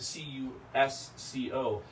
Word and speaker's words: Cusco: Quechua had no Z, so that never would have been Cusco because they didn't have Z in the language.